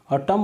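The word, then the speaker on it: autumn: अटम में क्या होता है, देखो AUTU, यहाँ पे एक N साइलेंट होता है।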